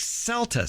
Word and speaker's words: celtuce: that people may have not heard of like celus c l Tu c not to be confused